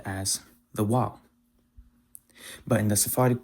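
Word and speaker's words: ו: In modern Hebrew, they pronounce it as Vav. In chosen Hebrew, it's pronounced as Waw.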